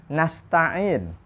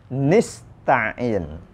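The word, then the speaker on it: نستعين: Lalu nasta'in. nasta'in. Seluruh qiraat sab'ah membacanya nasta'in. Namun Yahya bin Wassab dan Al-A'mas keduanya membaca dengan bacaan nista'in. Yahya bin Wassab dan Al-A'mas membacanya nista'in, bukan nasta'in. Iyyaka na'budu wa iyyaka nista'in.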